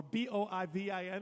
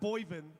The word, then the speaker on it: Boivin: by Brie Boivin, or B-O-I-V-I-N. How do you pronounce that? I'm going to pronounce it not Boivin, I'm going to pronounce it Boivin.